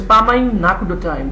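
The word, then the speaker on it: Paamayim Nekudotayim: This is pronounced as Pamaim Nakudotaim. This is in Hebrew.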